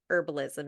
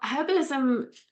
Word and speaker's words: herbalism: What would be herbalism in the nitty-gritty form of it? Well, herbalism, and we pronounce it with the H in the UK, and in the US they don't pronounce it with the H.